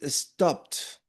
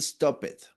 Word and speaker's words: stopped: And this one is stopped. Not stop it. Okay. Stopped.